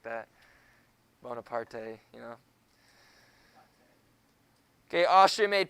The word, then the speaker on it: Bonaparte: It's pronounced Barnapad, isn't it? Yes, it is. I'm messing around. That's why I said that's not actually how it's said. No, that's why I said that's not how it's actually said.